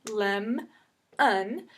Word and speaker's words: lemon: Okay, lemon, same thing, except for this time the consonant is with the beginning sound, lem, un. Okay, and when it's that way, we know that first vowel is going to be a short vowel.